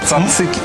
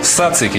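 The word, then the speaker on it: τζατζίκι: Цацики. Ты говоришь цацики. На самом деле правильно говорить сацики. Дело в том, что в греческом языке нету шипящих звуков. Да. Поэтому сацики.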